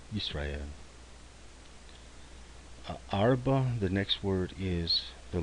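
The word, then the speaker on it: ארבע: There is no vowel, so we're going to use the silent schwa to put the break there.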